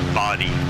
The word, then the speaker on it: Bodie: Yeah, it's actually pronounced body, just to throw everybody off.